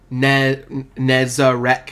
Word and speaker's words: Nezarec: Nezarec, 3 syllables.